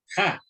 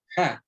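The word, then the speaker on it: הַ: ¿Cómo se pronuncia el artículo definido? Ja, ¿cierto? Ja.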